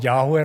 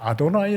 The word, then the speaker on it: 아도나이: 있으면 그것을 읽을 때에 여호와 라고 야외 라고 발음하지 않고 아도나이 라 그렇게 푸르던 이름의 여호와의